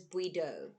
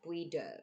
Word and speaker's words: Bụi Đời: Okay, guys, so I mispronounced that. That was Bụi Đời. Bụi Đời.